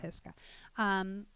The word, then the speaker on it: Pisgah: Pisgah, I think I said it right. Is that the right way to say it, Shane? Yeah, Mount Pisgah.